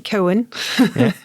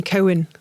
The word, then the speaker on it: Cowan: And you got my surname right, but I was telling you about all these people who call me Coen, like a Coen brother or something, which which would be pretty cool.